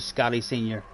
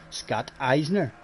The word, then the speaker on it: Scotty Senior: Or he mightn't even pronounce it Scotty Senior. Years ago, people used to call me Scott Eisner. They used to think I was German or something.